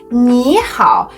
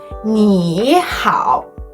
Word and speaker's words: 你好: When two third tone syllables are pronounced in sequence, the first syllable changes to the second tone, resulting in second tone plus third tone instead of third tone plus third tone. For example, the phrase 你好 is pronounced as 你好 instead of 你好.